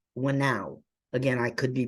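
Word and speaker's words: whānau: And she, in her book, Decolonizing Methodologies, she defined a Maori term called Wainau. Again, I could be pronouncing it wrong, so I'll spell it. Whanau.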